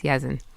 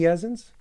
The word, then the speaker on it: Yazin: And my baby, that's Yazin. Yazin. Yazin. I like that name. That's the baby. Do we Thank know you. any Yazins?